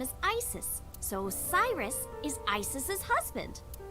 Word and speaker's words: Isis: Egyptian mythology too oh horse's mom is named Isis but in ancient Egyptian it's pronounced closer to ISA or ASA how do I explain this creepy Uncle no